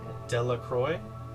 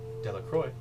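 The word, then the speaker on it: Delacroix: Does it spell delroy? Like it's spelled like sparkly water.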